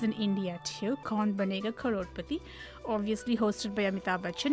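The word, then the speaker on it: करोड़पति: Crorepati.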